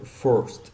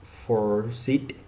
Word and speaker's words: forced: The ED sound sounds like T and it's not pronounced as an extra.